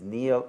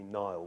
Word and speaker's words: Niall: with you again and I know that your name is neo and not Niobe even though that the pronunciation out is quite common it's a great source of frustration to me that half the world calls me Nile which is of course a river in Egypt mm-hmm that's probably true